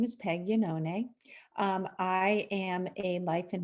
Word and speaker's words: Iannone: lesson that was great because it's an italian name yanone which is beautiful so